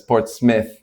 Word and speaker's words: Portsmouth: It's spelled Portsmouth, but it's Port Smith.